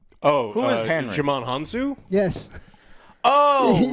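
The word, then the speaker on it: Djimon Hounsou: name how do you say his name oh jam hanu yes oh right the guy starlord who yes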